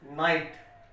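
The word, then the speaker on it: knight: इसी तरह नॉलेज, इसी तरह ये वर्ड है, इसको पढ़ेंगे नाइट, तो के यहाँ पर साइलेंट रहेगा।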